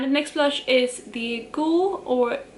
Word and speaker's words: Goulue: The rest of the blushes are now in the bottom section of my ranking, and the next blush is the Goule, or it's spelled Goulue, and this was like a gift from Sephora for like the VIB Rouge gift or something like that.